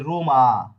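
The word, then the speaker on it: Roma: অ এম আ হচ্ছে আমরা বলি রোমা রোমা বলি না কিন্তু শব্দটা কি হবে? এর শব্দটা হবে রমা।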